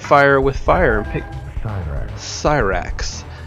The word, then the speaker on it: Cyrax: Let's go ahead and fight fire with fire and pick Cyrax. For whatever reason, Cyrax's name is pronounced with the lisp there, and I kind of like it.